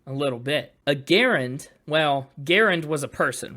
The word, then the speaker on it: Garand: World War II rifle commonly you'll hear people mispronounce the gun as a grand but his name is John Garand I see yeah so